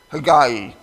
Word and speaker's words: Haggai: But I'm going to try to say Haggai when I pronounce this guy's name in correct pronunciation.